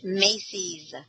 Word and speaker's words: Macy's: Macy Thanksgiving Day Parade it's Macy's Macy's es right because it's their parade oh there he is